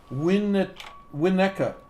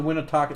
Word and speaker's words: Winnetka: Winnetka. As that boy saying. James said it wrong, of course. I said Winnetaka.